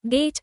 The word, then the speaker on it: gate: গেট, এট, long vowel a. Long a, silent e at the end. The vowel glides, hold it slightly longer than get.